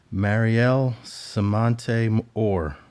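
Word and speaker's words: Mariel Semonte Orr: 18, and this is a tough name to pronounce, but it's Mariel Samante Orr.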